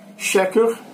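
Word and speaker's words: שקר: vocês vão ver aí xeque a palavra em hebraico cheque é como se fala e se escreve mentira em amambai vocês vão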